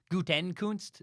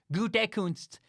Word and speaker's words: Gutekunst: I know it's Gutekunst, not Gutekunst.